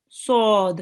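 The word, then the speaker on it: ص: Right, now the next rule is the sod here. Sod. It's a thick letter. It will be read with your mouth rounded a bit. Okay, so make sure to round your mouth. It's heavy and thick.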